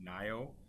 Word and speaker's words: NIO: to cover the hot Chinese electric car producer pronounced nio ticker symbol nio trading on the New York